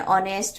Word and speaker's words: honest: the answer is an honest man in the word honest man H is silent it begins with a vowel sound o so an article is